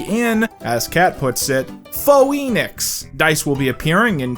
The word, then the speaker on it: Phoenix: Sam corrects Kat that the city is pronounced Phoenix, not Phoenix, but Kat doesn't care,